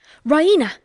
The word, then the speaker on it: Raina: She pronounces it Raina with the stress on the E. Raina!